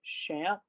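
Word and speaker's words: XAMPP: you here is again I'm down I've downloaded shamp that's how I'm told you should respond you should uh pronounce the name of this uh product so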